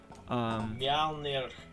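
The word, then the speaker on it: Mjölnir: Mithril Coat, Mjolnir Stormhammer. I only know how to pronounce that one because I already knew what the hammer was. Mjolnir.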